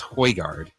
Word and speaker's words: Højgaard: I've been told it's pronounced Højgaard.